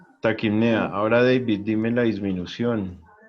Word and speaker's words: taquipnea: Taquinea. Taquipnea.